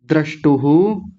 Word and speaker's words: द्रष्टुः: द्रष्टुः, विसर्ग भी है, द्रष्टु नहीं, द्रष्टुः। तदा द्रष्टुः स्वरूप, तदा तदा द्रष्टुः स्वरूपेऽवस्थानम्।